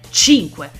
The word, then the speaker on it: Cinque: ci crederete mai ma il suo nome si pronuncia 5 e oggi andremo ad